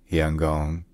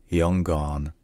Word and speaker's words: Yangon: First, in Burmese, the city is called Yangon, Yangon, Yangon, and in English, there are many different pronunciations.